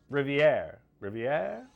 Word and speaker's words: Rivier: Rivier. Plymouth, Nashua, Manchester, or Ashland? Where would you find, and I know it's pronounced Rivier University in New Hampshire.